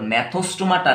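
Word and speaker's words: Gnathostomata: ठीक, अब देखिए बच्चों, इसका प्रोनाउंसिएशन ध्यान रखना बच्चों, ये जो है AG, ठीक, ए का प्रोनाउंसिएशन नहीं होता एग्नाथा, यहाँ पर सॉरी ए का प्रोनाउंसिएशन नहीं होता, नहीं, यहाँ पर जी का प्रोनाउंसिएशन नहीं होता। ठीक, जैसे कि यहाँ से मैंने प्रोनाउंस करा नेथोस्टोमाटा, ठीक, तो जी का प्रोनाउंसिएशन साइलेंट रहेगा, और यहाँ पर दोनों भी प्रोनाउंस होगा।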